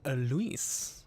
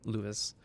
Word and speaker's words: Luis: players good afternoon everyone my name is luis or lewis i really like pronounce it i like i prefer lewis um and we are